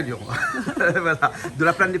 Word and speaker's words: Lions: Après ça dépend si on le prononce à l'anglaise, mais nous c'est Lions. C'est Lyon.